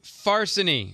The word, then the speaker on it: Farsini: I'm Farsini, rhymes with larceny, from a rental car.